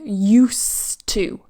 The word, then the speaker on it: used to: the pronunciation as well I don't say to get used to used to I say use to used to I remove that D here and it's like use used to one started to get